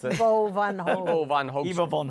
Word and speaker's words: Ivo van Hove: How do you pronounce it? Bo Van Hoven. Ivo van Hoogst. Eva von Hove. Ivo van Hove, yeah.